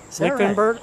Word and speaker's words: Lichtenbert: Lichtenbert is pronounced lick, like in licking a popsicle, 10 like in 9, 10, 11, Bert and Ernie. You'll be saying it in your sleep tonight. Lichtenbert.